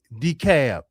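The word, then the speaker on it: DeKalb: Decab did I get it right? I appreciate y'all's corrections on how I was saying at first. Hey, it's not my fault the founders of y'all county didn't spell it phonetically correct, but decab like I'm going to Decab.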